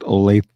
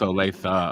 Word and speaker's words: Olathe: Yeah, it's actually pronounced Olathe. What did I say? Olathe. Oh, it's Olathe.